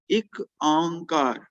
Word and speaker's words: ਇੱਕ ਓਂਕਾਰ: so whenever we come across ek onkar ਇਹਦੀ pronunciation ਥੋੜਾ ਜਿਹਾ difference ਰਹਿੰਦਾ ਹੈ। popular pronunciation is ਇੱਕ ਓਂਕਾਰ।